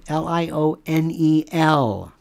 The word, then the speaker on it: Lionel: Lionel, not Lionel. You can pronounce it that, but there's one L at the end.